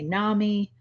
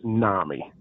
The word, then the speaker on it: NAMI: because some people say Nami's some people say nah me what is the correct the correct pronunciation is Nami Nami is a East Coast thing I think